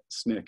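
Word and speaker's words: SNCC: purpose for Snick and Snick is how you say the Student Nonviolent Coordinating Committee um he gets basically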